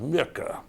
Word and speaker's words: Muecke: surname his name was John Edward it was pronounced Micah and milka is a pretty difficult name for